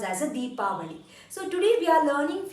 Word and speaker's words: Deepavali: never use Diwali in Canada Canada please always pronounce as a deepavali so today we are learning few sentences which